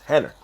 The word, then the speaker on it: Rener: It's spelled, it looks like Renner, Rener, but he's Brazilian, so it's pronounced Henner.